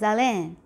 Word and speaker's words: haleine: And this word over here is going to be pronounced as horloge. This one is hier. This one is habité. This one is haleine, right?